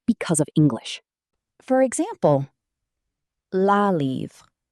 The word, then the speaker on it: la: The correct pronunciation is la a relaxed sound not lee.